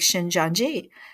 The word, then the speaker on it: Shincheonji: they use the Bible you know just like shin janji and the way you spell it if you want to look it up